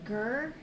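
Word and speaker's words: GIR: can only use gear it looks like it's pronounced gur and if you say ger on Instagram they will not re-tag you because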